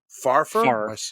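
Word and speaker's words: Pfarrer: there you go uh Chuck po farer I think the p is silent we'll say far okay I think yeah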